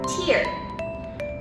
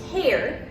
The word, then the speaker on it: tear: pronounce it as tear it's more of a t-a-r-e kind of pronunciation despite the fact that